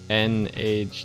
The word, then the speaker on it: Nage: So is it Nagi design, or is it Nage design, or is it N-Age design, Yeah. or is it Na-G design? Let us know how you'd prefer us pronounce it.